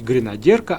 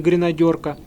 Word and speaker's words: гренадерка: В фильме про семейство синиц, мы уже рассказывали, почему правильно говорить гренадерка, а не гренадёрка.